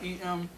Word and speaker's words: Jeremih: Jeremih. Yes, because we've been spelling his name wrong all day.